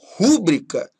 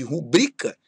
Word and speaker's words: rubrica: Por exemplo, você falar rúbrica ao invés de rubrica é um erro de prosódia.